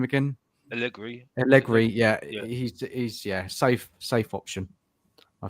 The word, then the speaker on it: Allegri: How do you pronounce his name again? Allegri, yeah.